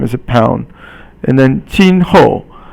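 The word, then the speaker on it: 今后: And then 今后. 今 is today, and it means it's first tone, and 后 is fourth tone.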